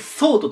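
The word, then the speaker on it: thought: 抜いてしまった TH で au 発音しないが来て T ですこれでソートと言いますソト think ソソト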